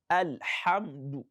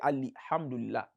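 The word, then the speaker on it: الحمد: Don't give kasra to that lam, it is sukun. Don't say Ali. Some people mistakenly say Ali, alhamdulillah. It is not Ali, alhamdulillah, it is alhamdu. Al-ha, al-ha. Look at the transition between a, lam, and ha. Al-ha, not al-a, not al-amdu.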